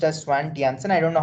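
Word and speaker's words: Svante Janson: Swan Janssen okay so there is a j but I don't know why but they pronounce it as a y okay so if I'm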